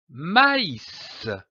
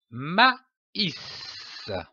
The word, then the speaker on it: maïs: Cet accent tréma indique que la voyelle qui précède doit être prononcée séparément, comme par exemple du maïs, maïs.